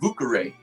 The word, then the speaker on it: Vieux Carré: And if you've ever been to New Orleans and you've heard them pronounce French words like vieux carré, which means old square, they call it boucaré.